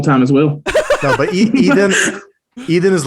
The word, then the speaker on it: Eden: So it's pronounced a bit differently in Hebrew, but it's all good. How do you pronounce it? Eden.